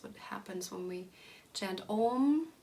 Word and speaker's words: om: that also means that we will sing om instead of om right so there's a nasalized sound at the end of the mantra which which is in